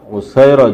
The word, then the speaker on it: উসাইরা: ক্বালা আল উসাইর আও আল উসাইরা, তিনি বললেন উসাইর যুদ্ধ অথবা উসাইরা যুদ্ধ। ফাযাকারতু লি কাতাদা, এই বর্ণনা যখন আমি কাতাদার কাছে উল্লেখ করলাম, ফাকালা, তখন তিনি বললেন আল উসাইরা, শব্দটার আসল উচ্চারণ হইবে উসাইরা।